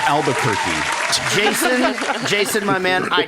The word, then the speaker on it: Albuquerque: i don't know how to pronounce it it's pronounced albuquerque jason jason my man i tried to save